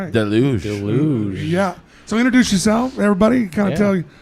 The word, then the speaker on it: Deluge: Deluj.